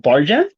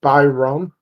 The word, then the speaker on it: Bajram: to the CPL uh podcast uh I have bargain right is that correct uh with me today actually it's by Rome that's the way you would pronounce it okay am I bad Byron yo what's up dude and uh welcome to